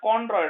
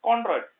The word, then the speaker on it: chondroid: So these are called as choroid alla, chondroid. Okay, I'll spell it out for you. So these are known as chondroids.